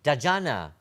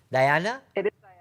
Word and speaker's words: Diana: you for that contribution dajana or dahana or darjana i'm sorry if i've got your name wrong diana it is diana it's the albanian version of d-i-a-n-a so thank you thank